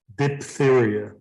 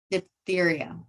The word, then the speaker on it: diphtheria: mumps polio I'm not going to try to pronounce that one cholera bubonically say it again diphtheria diphtheria there you go learn something new the prospect